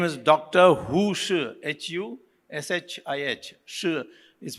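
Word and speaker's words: Hu Shih: Hu Shi, H-U-S-H-I-H. Shi is pronounced, spelled that way, I don't know why.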